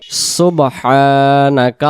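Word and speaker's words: سُبْحَانَكَ: সুবহানাকা আল্লাহুম্মা। সুবহানাকা আল্লাহুম্মা সুবহ সুবহ কলকলা হবে এখানে বা অক্ষরে সাকিন থাকার কারণে সুবহ এমন হবে আমরা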